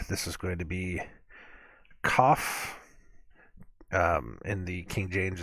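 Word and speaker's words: כ: If it has a dot in it, I think it said if it has a dot in it, you pronounce it as KAF. If it does not have a dot in it, it's HAF.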